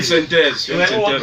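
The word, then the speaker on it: 5THEZ: Il y a ma chaîne YouTube, la chaîne synthèse. Vous trouvez la majeure partie des plateformes. Je sais que ça s'écrit 5, hein? 5, le chiffre 5, 5-THEZ. Simplement. 5 solamente. Voilà. Il va reprendre. 5-THEZ, synthèse.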